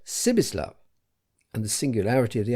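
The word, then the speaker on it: Pribislav: spoke was called hip pribis love hip the peculiarity of this given name was that you were to pronounce it as though it was spelled sibisla and the singularity of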